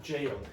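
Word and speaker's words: gaol: It's the same pronunciation as that. Jail.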